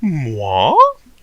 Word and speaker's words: moi: Moi? Moi, pronounced moi, is the French word for me.